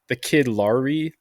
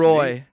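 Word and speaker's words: LAROI: The dude that's been blown up, the kid Lowry Oh, Lowry. How do you the kid say his name? Leroy.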